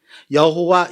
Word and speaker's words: 여호와: 나중에 자음들을 이렇게도 읽어보고 저렇게도 읽어보고 하다가 지금 우리말 성경에 쓰여 있는 대로 여호와라고 읽는 것이 맞는 것 같아라고 추정하게 되었어요. 여호와 이것 자체도 정확한 것은 아닙니다. 왜? 아직도 완전한 이름이 아니라 다른 한편에서는 여호와가 아니라 야훼다라고 강력하게 주장하고 이 주장이 많이 받아들여지기 때문에 정확한 이름은 아직도 몰라요.